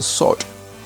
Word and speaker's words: sword: r d is pronounced sword skipping the W in it in the Bronze Age